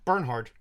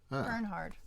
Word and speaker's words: Bernhard: say your last name Bernhard Bernhard yes German okay it's a German word it's a German he's